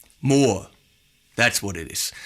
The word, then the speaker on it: Mooer: of the name it's more like no more no it's more that's what it is like you know you want more but spelled in a funny way those Chinese people they're